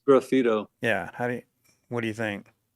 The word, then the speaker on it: graffito: And then graffito, is that how you pronounce that? Graffito. It's graffito.